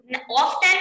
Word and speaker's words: often: Often no beta, it's often. It is often only. Okay, T is silent here.